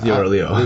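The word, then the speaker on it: 六: Liu. Yeah, Leo.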